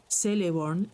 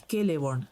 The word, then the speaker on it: Celeborn: C siempre tiene el valor de K o una C fuerte en castellano, nunca de S. Así pues, Celeborn es Keleborn, no celeborn.